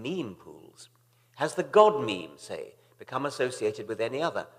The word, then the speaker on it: memes: the French word ma'am it should be pronounced to rhyme with cream just as genes are selected for their mutual compatible so in principle might memes be the large literature